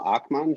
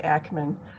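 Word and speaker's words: Akmon: up we have akhman she's running for ward one ann arbor city council saddam you haven't i apologize if i mispronounced your last name okay it often gets wrong it's actually ackman um and i'm running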